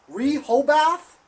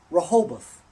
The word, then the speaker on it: Rehoboth: the Massachusetts uh rub how do you say it Rehoboth rahabaan' repo bath no it's Rehoboth we're hold with Massachusetts